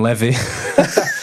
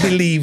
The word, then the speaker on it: Levy: General Levy for saying Levy completely butchered it and I've just heard you say it my name not Levy me name believe yeah yeah sorry about